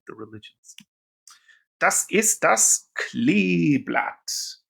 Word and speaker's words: Kleeblatt: Be careful. We English speakers, when we see two E's together, want to say E, but it's E, das Kleeblatt. Two E's together in German makes a long E sound.